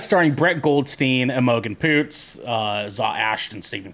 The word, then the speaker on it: Poots: That is starring Brett Goldstein and Mogan Poots.